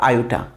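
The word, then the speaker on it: iota: In short में इसको आई पढ़ रहा हूं, ठीक, लेकिन इसका रियल प्रोनाउंसिएशन क्या है? आयोटा।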